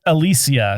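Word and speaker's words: Alicia: hung up on you saying it Alisia because that's how you're supposed to say her name yes it is I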